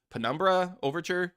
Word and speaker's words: Penumbra Overture: Penumbra Overture. Am I pronouncing that Yeah.